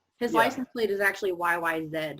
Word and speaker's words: YYZ: the yy said as i mentioned but i pronounce it yyz because that's how we say the letter z